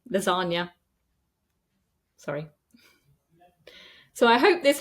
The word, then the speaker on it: lasagna: have some words like lasagna noi that have come into our language and I'm really sorry Italians we just mispronounce them we just pronounce it with an N lasagna sorry so I hope